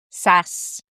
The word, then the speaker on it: SaaS: talk about today is Sass. Now, this is Sass, not spelled S-A-S-S, but spelled S-A-A-S. A few people might pronounce it differently, but honestly, I prefer Sass because when you're in